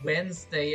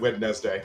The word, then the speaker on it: Wednesday: Why is it Wednesday and not wetness day? When I was a kid, I always said witness day.